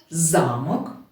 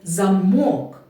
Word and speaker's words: замок: буде залежати значення слова слово замок наголос цей на перший голосний а в другому слові замок наголос стоїть на звук о і від цього слова